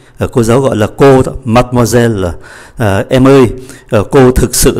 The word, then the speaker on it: mademoiselle: Mademoiselle, mademoiselle, như vậy có tất cả là 5 syllab. Mademoiselle. Chưa hết, chúng ta thấy ký tự ơ ở cuối không được phát âm. Ký tự ơ nằm giữa hai ký syllab khác cũng không phát âm. Như vậy mademoiselle 5 syllab, còn lại 3 mademoiselle, mademoiselle.